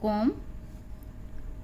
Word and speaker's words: comb: COMB पढ़ेंगे इसको कॉम। DOMB डम। यहाँ पे ओ, अब मैं आपको ओ के उच्चारण समझा चुकी हूँ।